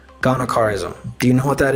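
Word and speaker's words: gonochorism: It's I'll spell it out. It's G O N O C H A R I S M. Ghanaism.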